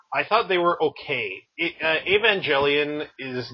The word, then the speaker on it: Evangelion: to that remake of Evangelion. I'm saying that as a soft G until the day I die.